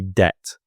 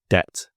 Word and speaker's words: debt: debt based system a debt is spelled DBT but we just say debt debt and debt is something